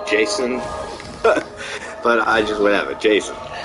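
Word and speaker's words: J'son: guy J is it it's spelled j apostrophe s n so Jason but I just whatever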